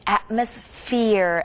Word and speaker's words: atmosphere: same thing atmosphere atmosphere ph도 똑같이 f 발음하고 비슷하고요.